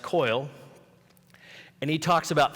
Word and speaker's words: Coyle: named Daniel, I believe his last name is pronounced Coyle.